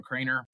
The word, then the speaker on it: Kroener: Instagram is theal Craner um k r o n r um don't try to phonetically sound that one out um and so